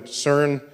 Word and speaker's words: CERN: were part of the CERN collaboration so CERN is how you pronounce the word which I think in